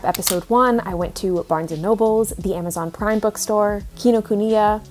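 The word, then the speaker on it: Barnes & Noble: in my last video people were really calling me out for pronouncing barnes and noble barnes and nobles like plural and i don't know why like i always just thought it was barnes nobles and i don't know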